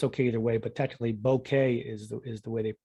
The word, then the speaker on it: bokeh: It's pronounced the same as the French word for bouquet, which is a arrangement of flowers. You hear people say bokeh, which is actually a